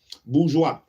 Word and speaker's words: bourgeois: And the British bourgeois, let's see how we pronounce that. Bourgeois. Is it bourgeois? Bourgeois.